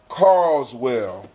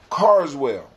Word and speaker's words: Carswell: Joella Giles and James carlswell cards will let me say it right Carswell all right um proper